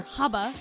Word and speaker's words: Gabber: So, Gabber, as the white people say it, or Haba is how you say it in German.